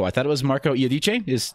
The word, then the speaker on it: Iodice: I thought it was Marco Iodice. Is the correct pronunciation? Yeah, it is. Yeah.